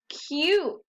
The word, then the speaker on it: cute: the end and that vowel team the u and the e work together to make the u say its name you and the e is silent cute let's try another start